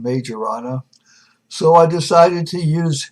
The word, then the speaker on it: Quirino Majorana: done by I think the proper pronunciation is query no mayorana but I will call them from now on major Anna so I decided to